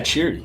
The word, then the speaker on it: Chiry: about next is like, so how'd you start Chiry? Is that how you say it? Yeah, Chiry.